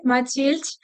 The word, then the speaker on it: Mathilde: So I say it the French way, Mathilde.